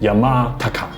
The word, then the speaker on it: Yamāntaka: l’ennemi rouge de la mort Le sanskrit se prononce Yamāntaka Cela signifie le destructeur de la mort Jetons